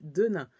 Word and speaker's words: Denin: Cette fois-ci, on arrive chez les Denain. Ça s'écrit Denin.